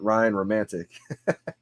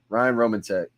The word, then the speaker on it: Ryan Romantek: for the longest time i used to call it ryan romantic but luckily we got it all squared away now ryan roman tech oh no it's official